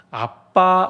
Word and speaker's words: 아빠: 그냥 아버지 아니고 뭐였죠 아빠 아버지입니다 옛날에 우리가 아바 아버지라고 배웠는데 어 정확하게 발음하면 아빠가 맞습니다 그래서 개혁 계정부터 아바가